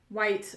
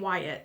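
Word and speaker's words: Waite: our a e Wyatt white um Tarot I want to call it Wyatt and I catch myself doing that so you don't have to correct me because I know I'm saying it wrong it's just like um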